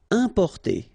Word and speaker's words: importer: Importer. Okay, IM, then a consonant, so it's the nasal un.